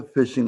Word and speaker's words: phishing: At the end of the day, what is a phishing attack? Phishing is spelled p h i s s h i n g. Sounds like fishing. It's the same different spelling.